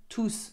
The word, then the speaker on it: tous: on its own okay so if it comes with a noun after that you do not pronounce tooth ok but if it comes on its own tooth you will pronounce okay for example I'm